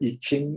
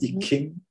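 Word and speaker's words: I Ching: know sometimes you yeah in english you pronounce it as the itching or the e king right so uh that's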